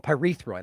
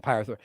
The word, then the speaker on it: pyrethroid: hear it again urethraud I knew I was saying it wrong pyrethroid I was saying Pirates pyrethroid Act IES of pyrethroid